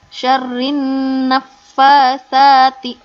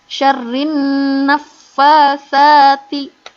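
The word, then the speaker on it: شَرِّ النَّفَّاثَاتِ: Naknya pendek, tapi fa-nya yang panjang dan juga sa-nya yang panjang. Hati-hati. Jadi yang betul dibacanya syarrin nafasati dan seterusnya.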